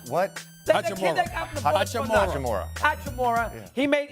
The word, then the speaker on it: Hachimura: The Washington, the guy they got from the Bullets, Chachura. He's a good little player. He can, how do you pronounce his last name? What? Hachimura.